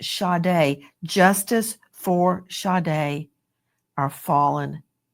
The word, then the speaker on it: Sade: It's pronounced shade.